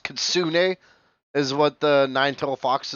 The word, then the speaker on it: kitsune: They're pronounced kitsune, is what the nine-tailed fox is called.